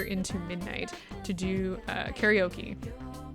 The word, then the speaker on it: karaoke: midnight to do uh karaoke which is not the correct pronunciation of that but I'm gonna go with it because it is the common pronunciation you're saying for hours